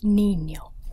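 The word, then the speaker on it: niño: is called enye and it is pronounced as an n-y sound such as the word canyon in english so in the word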